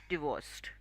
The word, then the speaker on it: divorced: word as often and get divorced the correct pronunciation is divorced okay very good last one last exercise you